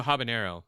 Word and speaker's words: habanero: for instance uh someone say uh Habano using the the Enya oh when when habanero doesn't have the Nya yeah it's it's en